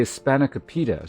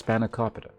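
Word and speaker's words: spanakopita: overwritten by Spanacopa, which I only learned the proper pronunciation or at least something close to the proper pronunciation for recently. I heard people say Spanicopa. So for years I just thought that's what it was, but apparently it's Spanacopa or something something much closer to that in terms of the stressing.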